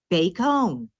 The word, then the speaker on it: Bacone: we explore and learn about bacon college pronounced bakehome the goal of today's